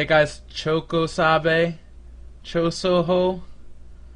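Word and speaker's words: Chōsokabe: Chokosabe? Chosoho? Chosokabe.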